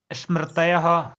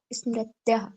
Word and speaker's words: स्मृतयः: प्रमाण विपर्य विकल्प निद्रा स्मृतयः। प्रमाण विपर्याय विकल्प निद्रा स्मृत्याः। तयः स्मृत्याः। प्रमाण विपर्य विकल्प निद्रा स्मृत्यः। स्मृति बोलते हैं ना जिस प्रकार से, स्मृतयः, ता और या और हा का प्रोनाउंस स्मृतयः।